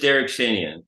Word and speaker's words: Derak Shanian: How do you How do you pronounce it? It's just Derek Shenyan.